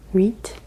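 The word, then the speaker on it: huit: number I hate is weet weet weet silent H but it does sort of influence the letters that you do say wheat number nine no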